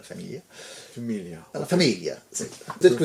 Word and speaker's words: Famiglia: ça s'écrit Famiglia, mais il faut dire la Famiglia.